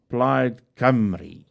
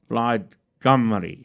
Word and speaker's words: Plaid Cymru: Hoe moes ek dit gesê het? Plaid Cymru. Daar het jy dit. Plaid Cymru.